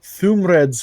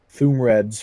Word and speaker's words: Thuumred: There is Thumred's Forge, that is spelled Thuumred, Thumred's Forge. Davy's Curious Emporium, The Enchanter's Wonder.